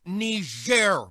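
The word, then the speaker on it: Niger: thing it's pronounced ner Mr President and it's a country in Africa oh aren't we fancy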